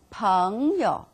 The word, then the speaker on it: 朋友: See, what is the first relationship I want to share with you is 朋朋朋 E-O-U neutral tone 有朋友朋友 means friend.